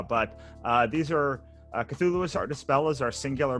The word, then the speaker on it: Cthulhu: ctulu i am i i'm not pronouncing right it's cthulhu it's cthulhu but the great thing about lovecraft is that he didn't settle on a spelling or pronunciation during his life so you can pretty much say anything but the pretty much standardized uh pronunciation is cthulhu mm-hmm and and what